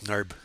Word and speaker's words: Narb: Is it Narb or Knarb makes? I think he pronounces it Narb, I think.